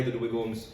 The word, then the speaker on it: Dweghom: Today I am joined, I will play the Dweghoms, of course, the Dweghom, as I've learned it's pronounced officially.